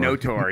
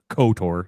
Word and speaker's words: KOTOR: no Tor, yeah. Because the K in Knights is silent, so you wouldn't say KOTOR, you know? It'd be NOTOR.